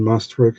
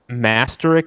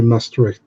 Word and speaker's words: Maastricht: Masterick, is that the name of your city? Yeah, you say Maastricht, but yeah, you have the right city. Clearly, I didn't pronounce it right, but I still sort of got it right.